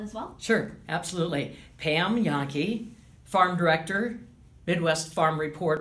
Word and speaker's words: Jahnke: give me your name and title and and spell it as well sure absolutely Pam yaki farm director Midwest farm report Radio Network last